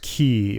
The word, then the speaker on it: quay: Oh, Quay is pronounced key.